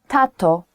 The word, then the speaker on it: tato: say that and that in polish it's tato tatto tatto easy so kids can pronounce